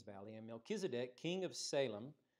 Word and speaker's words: Salem: and melchizedek king of salem or shalem as it said or pronounced in hebrew brought out bread and